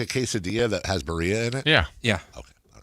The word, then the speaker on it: birria: Or sometimes they do like a birria taco where they put cheese over it. Oh, you did the R thing. Yeah. I can't do that. That's how it's pronounced.